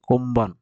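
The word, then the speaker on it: 今晩: কোনবান, কোম্বান, কোম্বান, এটা উচ্চারণ হবে কোম্বান।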